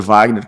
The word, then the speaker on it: Wagner: O seminário Fuller, em Pasadena, na Califórnia, tinha uma pessoa chamada Peter Wagner, ou Peter Wagner, como se fala no Brasil, e ele começa a